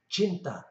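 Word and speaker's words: cinta: with a few exceptions c is pronounced ch and an example of that would be chinta which means love chinta as all ours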